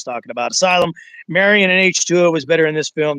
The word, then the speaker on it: H20: It is pronounced H2O.